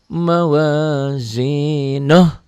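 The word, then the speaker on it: مَوَازِينُهُ: Ini bacanya kalau berhenti pendek. Fa'amma ma thaqulat mawazinuh, pendek. Tapi kalau disambung, diwasol, dibaca dengan ayat berikutnya, ini menjadi panjang. Ini ya. Fa'amma ma thaqulat mawazinuhu fahuwa fi 'ishatir radiyah.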